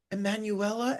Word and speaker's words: Emanuela: Emanuela and Dean, welcome to the show.